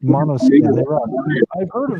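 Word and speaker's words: Måneskin: I like a band out of Italy called Names, and it's pronounced Monoskin.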